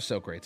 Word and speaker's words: Socrates: big pull looks like so crates I know that's not how you say his name Socrates would be in a different language and he would have